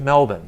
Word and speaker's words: Melbourne: him to move to melbourne so if you're trying to pronounce melbourne it's mel and then like a bun like a cream bar